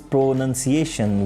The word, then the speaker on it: pronunciation: but it's a pronunciation we have to divide this word in four parts pronunciation here the word is pro-nunciation none not noun like ports of speech so the correct usage